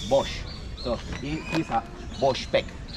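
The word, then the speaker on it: box: in my own language b b o x but the pronunciation is Bosch so he's a Bosch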